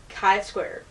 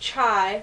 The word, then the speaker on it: Chi Square: we're going to tackle Kai Square now this is not pronounced chai like the T we're not talking about